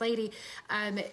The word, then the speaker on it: Laire: You know, it's funny, if you guys have seen one of your co-CEOs, one of your co-owners, Lady, her name is spelled Laire, but it's pronounced Lady.